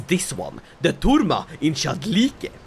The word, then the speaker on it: Chalkidike: So, the holding I'd like to control is this one, the Tourma in Chalkidike. Or the Chalkidike. That's how you say it.